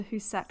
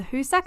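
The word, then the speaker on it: Hoosac: at home have we ever heard of the hussak tunnel no spell it you h double o s a c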